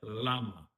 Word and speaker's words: Lama: is called El Dalai Lama, right? El Dalai Lama. So you'll pronounce that L like a normal L, right? Like a normal L sound in this case.